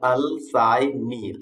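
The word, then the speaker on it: Alcyone: तो है अल्साइनी, ऐसा उसका प्रोनाउंसिएशन है।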